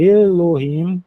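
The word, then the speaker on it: אֱלֹהִים: Aqui tem Elohim, aqui alef. E aquilo que eu chamo de caixinho de uva e mencionei ainda há pouco, é o som do e.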